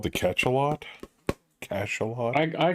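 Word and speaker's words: Cachalot: consistently missed on the same roll yeah it's pronounced cash a lot and it's actually a French word for big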